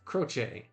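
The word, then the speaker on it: Croce: So in Italian, Benadetto croche is typically pronounced croche. The ch sound is soft like a ch in chocolate.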